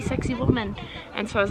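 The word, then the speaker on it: Sacsayhuamán: And I looked at the spelling and it's spelled totally different, but that's how everyone's been saying, like, oh, you have to see sexy woman.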